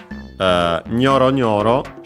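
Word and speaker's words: ニョロニョロ: Nyoro Nyoro should be accented on the first syllable, and it is like other onomatopoeias.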